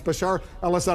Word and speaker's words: Bashar al-Assad: Bashar al-Assad, I know you've mispronounced his name a few times, but it's Bashar al-Assad.